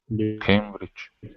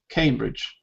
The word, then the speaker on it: Cambridge: Because it's got A rather than A. Cambridge. You think it's Cambridge? It's Cambridge. There's no E. Why do we say came?